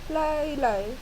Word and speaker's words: Lee: But most people call me Lee, but it's pronounced as Lai.